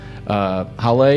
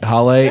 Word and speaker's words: Haile: We've got Haile, is that how you say it? Yes. Haile and Jerusalem.